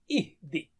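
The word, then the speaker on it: اهدِ: Silent ha, uhdi. And because Arabic words do not start with silent letters, so we put a temporary hamza there, ihdi.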